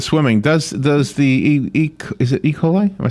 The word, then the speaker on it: E. coli: Just getting back to the swimming, does the is it E. coli? Am I saying it right? E. coli, that's right.